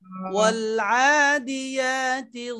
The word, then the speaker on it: والعاديات: দিয়া দিয়া এমন না, মানে ইয়াটা জিহ্বার মাঝখান থেকে সুন্দর করে ইয়া উচ্চারণ করার সাথে সাথে মুখটাকে, ঠোঁটটাকে স্বাভাবিক করা। দিয়া দিয়া والعاديات ضبحا والعاديات ضبحا ضبحا